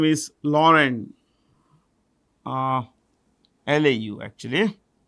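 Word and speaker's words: Laurent: uh has a new CEO his name is Lauren uh La actually l a u r e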